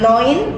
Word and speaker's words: neun: ah Noin no Heeh EU dalam bahasa Jerman dibacanya oi nah neun jadi bacanya Noin kemudian 10 ini Ce